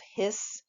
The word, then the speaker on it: His: The old name for this was the bundle of hiss, like a snake hiss, but spelled with a capital H and only one S because it's somebody's name.